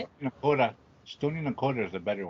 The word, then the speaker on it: Nakota: Nakota.